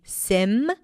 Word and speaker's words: symptom: So symptom, spelled S Y M P T O M, is pronounced either with a P or without. So you can say 'sym-tom' or symptom.